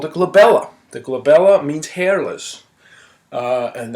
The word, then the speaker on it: glabella: starts, is called the glabella. The glabella means hairless, and that's that area right in there. And well, that, you know, is often on the test because glabella rhymes with Isabella.